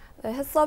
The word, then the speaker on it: HACCP: 4 자 그렇다면 사실 저는 haccp 처음에 어떻게 발음해야 그 사람 잘 몰랐어요 서울이다 슥 아세요 그 해썹 일을 했어요 패 소린데 새롭게 변경될 보며 어떤